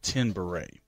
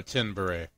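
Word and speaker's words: Tenebrae: want to call it I don't know how you really pronounce this I'll tell you how I pronounce this came out in 1982 and it's called Ten Beret oh 10 beret Timbre t-e-n-e-b-r-a-e if that's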